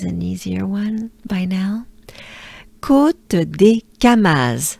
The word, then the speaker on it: Côte des Camas: So, yes, we have côte, côte, and to pronounce the whole name, it goes a bit more côte, côte, côte des. I know, sometimes it's de, sometimes it's du. Here it's des, and the reason why